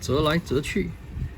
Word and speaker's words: 折來折去: I got this from China, so it's pronounced 折来折去, and it comes like directly translate to folding and folding with interest.